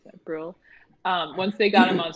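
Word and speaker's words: Brühl: But once they got Daniel Bruhl on screen, I think that's how you say it, Bruhl.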